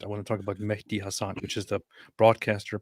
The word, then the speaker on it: Mehdi: It's Mehdi.